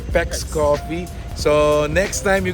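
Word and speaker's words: Paik's: by the way guys this is how you pronounce it it's peex coffee so next time you go here at least you know how to pronounce it yes so PEX coffe located friendship Highway side gate CLK and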